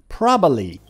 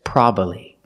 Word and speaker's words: probably: This word has two pronunciations. You can say probably, probably, or you can say probably. So you can pronounce it with three syllables, probably, or you can pronounce it with two syllables, probably, probably.